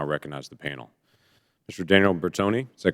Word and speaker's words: Bertoni: Daniel Bertoni, is that correct? Bertoni is the correct pronunciation?